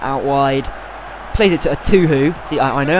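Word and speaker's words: Etuhu: And then Zamora, playing it out wide, plays it to a Tuhu. See, I know how to pronounce it now. Thank you guys, a Tuhu.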